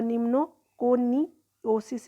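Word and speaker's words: pneumoconiosis: कहते हैं ठीक है पी साइलेंट ऑलवेज रहता है और निमो कोनी ओसिस इसको प्रोनाउंस करते हैं व यू आल्सो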